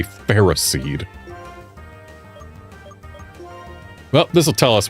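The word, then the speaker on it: Ferroseed: Stupid official pronunciation. It is a ferris seed. A ferro seed.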